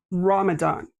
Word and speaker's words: Ramadan: Ramadan.